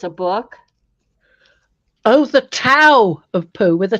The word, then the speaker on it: Tao: Oh, the Tao of Pooh with a T. Yeah. Yes. I've got that. Yeah, with a T, but I believe it's pronounced with a D, isn't it?